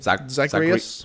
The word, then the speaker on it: Zagreus: Zagreus.